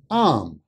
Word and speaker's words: I'm: Usually, native English speakers pronounced I am as am.